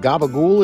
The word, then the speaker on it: capicola: Sopranos and wondered what Gaba goul is well that's just a New York Italian American way of pronouncing cacola next up let's roll